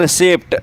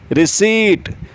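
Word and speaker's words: receipt: एक स्लिप मिलती है उस स्लिप को बहुत से कहते हैं रिसीप्ट नहीं पी साइलेंट है तो रिसीप्ट अ रॉन्ग प्रोनाउंसिएशन सही क्या है रिसीप्ट रिसीव सीट रिसीट फिर आता है द्वीप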